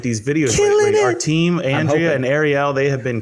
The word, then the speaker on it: Angeli: I had to ask her how to pronounce her last name, and I almost said it wrong. Angeli. No, it's Angeli. I know, it's Angeli.